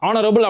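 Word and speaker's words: honorable: அது ஹெச்ஓ தான் ஆரம்பிக்கும், ஆனால் ஹெச் சைலண்ட் தான். ஆனரபிள் அப்படின்னு தான் அந்த ப்ரொனன்சியேஷன் ஆரம்பிப்பாங்க.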